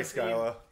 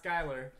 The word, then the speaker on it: Skyla: Oh, yeah, sorry, Skyla. Unique one, not Skylar.